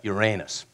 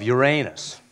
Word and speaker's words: Uranus: I keep repeating the name of that planet, with particular emphasis on its second syllable, concluding with the question, what is the significance of Uranus?